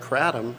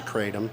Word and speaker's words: kratom: And then I discovered kratom, or some people say kratom.